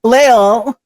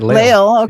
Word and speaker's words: Leil: Brad uh Leil, how do you say your last name, dear? I forgot to ask. You said it right. You said it right. Leil.